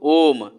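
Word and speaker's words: ॐ: उच्चारण करते हैं तो ओ को खूब ज़्यादा खींच कर ले जाते हैं, जितना हमारे पास सांस रहता है उतना। उसके बाद अंतिम में क्या करते हैं, म हल्का सा बोलते हैं, है ना।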